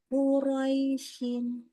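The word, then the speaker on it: قُرَيْشٍ: Quraisyin. Ya, sempurna ini sifat lin pendek dan lunak ini maksudnya gini. Antara fathah dengan ya sukunnya bacanya seimbang. Jangan tidak seimbang.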